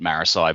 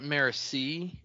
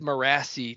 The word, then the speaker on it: Marasi: If somebody said Morassi to me, I'd be like, "You're you're I'm sorry. You're wrong. That's not how you say that name."